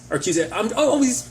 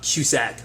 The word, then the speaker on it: Cusick: I think it is just Cusick, not Cusack.